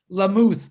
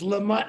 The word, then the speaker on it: Lamott: I always, it looks to me like Lamuth, but if it's Lamott, I'll call you Lamott.